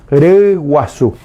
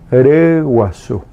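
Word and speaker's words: ryguasu: Gallina, reguazú. Reguazú. Ahí aparece la vocal difícil de pronunciar.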